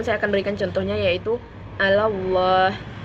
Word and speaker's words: Allah: Namun saya akan berikan contohnya yaitu Allah. Maka membacanya sebelum lam jalalah terdapat huruf berharkat fathah, maka harus dibaca tebal.